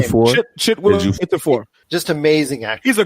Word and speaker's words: Chiwetel: Oh, Chiwetel. Can never say his name. Chiwetel.